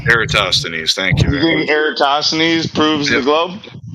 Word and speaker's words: Eratosthenes: of people like to claim that I can't pronounce the name but erasthenes or whatever the one that pronounced eratosthenes thank yous proves the globe no no my